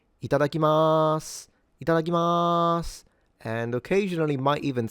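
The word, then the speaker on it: いただきます: So the correct pronunciation for this word is ITADAKIMASU. ITADAKIMASU. Itadakimasu.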